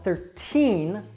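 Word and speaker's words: thirteen: said these different now 13 that has that true T sound 13 but in 30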